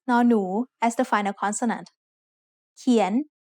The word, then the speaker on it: เขียน: เขียน is said with a rising tone because it has a high-class consonant and a live syllable ending.